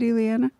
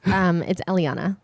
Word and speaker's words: Eliana: Is it Eliana? Almost. It's Eliana.